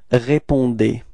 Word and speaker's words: répondez: For vous, you've got the ending D-E-Z, so you pronounce that D. Okay, keep in mind that combination between E and Z at the end of the verb is E, is pronounced like E, okay?